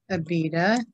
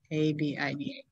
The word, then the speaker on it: Abida: And the sons of Midian, Epher, Enoch, Abida, Eldea.